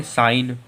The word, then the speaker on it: sign: अब SIGN की बात करें तो फिर से यन जो यन के पहले जी आ रहा, तो फिर से जी साइलेंट है। जी साइलेंट, इसे क्या पढ़ेंगे? साइन।